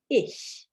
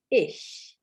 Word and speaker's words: ich: in huge okay so examples of the softer sound is the word for i in german which is ish ish it is pronounced differently in different accents um so there are